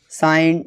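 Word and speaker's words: sign: अगर जी के बाद एन आता है तो जी साइलेंट होता है। Examples campaign, साइन, डिजाइन।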